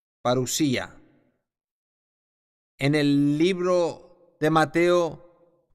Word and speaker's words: parusía: palabra para para asia para lucia si se pronuncia de vista xp s parusía en el libro de mateo capítulo 24 jesús